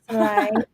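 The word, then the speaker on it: ไซร้: Yeah, it's a folk cluster, so we don't pronounce roria. So we say sai, pronounce it as if there is no roria. Sai, and you pronounce as a high tone. Sai, sai, because so is low class consonant, and low class consonant live syllable. When you see meto, you pronounce high tone.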